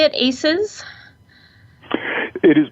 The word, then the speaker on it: ACEs: now John is a how you say it aces it is pronounced to simply aces and we usually make